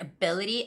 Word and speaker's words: ability: stress goes on be you know their word ability ability ability so flexibility has the same stress